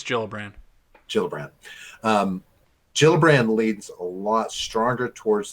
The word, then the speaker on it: Gillibrand: Is it Gillibrand or Gillibrand? I think it's a soft G. I think it's Gillibrand. Gillibrand leads a lot stronger